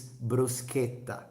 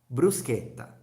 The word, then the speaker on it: bruschetta: don't forget porchetta it's bruschetta that's how we pronounce it in Italy no bruschetta blue sky top repeat after me Bru come on I mean you didn't repeat brew okay scale top Bruce Kenda that's how we say